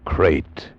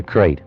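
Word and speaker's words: krait: a man trapped in his bed by a crate the most deadly poisonous snake in the world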